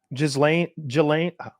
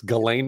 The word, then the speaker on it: Ghislaine: We got into this whole conspiracy rabbit hole the other day, me and Scum, about Ghislaine. That's how you pronounce it. Ghislaine Maxwell. It's Ghislaine Maxwell.